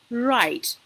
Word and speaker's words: write: So we don't pronounce the word as write. Okay, we go with write, and I mean writing.